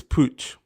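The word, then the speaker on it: Puig: of them are yes that is how you pronounce it's Pooch that's how you pronounce it but anyway um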